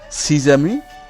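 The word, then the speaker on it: six amis: অথবা আশ থাকবে, তাহলে তখন এই যে ইক্স যে বর্ণটি রয়েছে এটি তাদের সাথে সন্ধি করবে এবং এর উচ্চারণ পরিবর্তন হবে, তখন ইক্স কি হয়ে যাবে জয়ের মতো হবে। আমরা যে উদাহরণ দুটো আপনাকে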